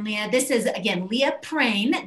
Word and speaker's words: Prehn: This is, again, Leah Prehn. That is pronounced like rain with a P, but it is spelled Prehn.